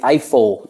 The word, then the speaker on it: Eiffel: Tower interesting pronunciation there because in English we say Eiffel Eiffel Tower almost sounds like an iPhone yeah rifle Eiffel iPhone